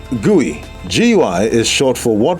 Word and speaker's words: GUI: million 10 1,00 100 answer 1,000 often pronounced guey GUI is short for what well-known 3w Tech